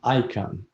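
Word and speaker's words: Icahn: yes yes all right next on the list card you pronounce his last name i can carl cilian icon his last name spells i-c-a-h-n yes he incarnated at the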